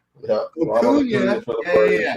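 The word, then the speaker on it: Acuña: his name sound like tuna, rhyme with tuna. Acuna. Yeah. Acuna.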